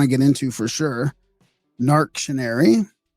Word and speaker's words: Narc.tion.ar.y: Narc.Tion.Ary. I guess that's how you would pronounce it, right? Yep, that's perfect.